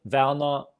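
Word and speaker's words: Werner: if you think of my name verna you can you cannot hear a single r in that okay we vocalize it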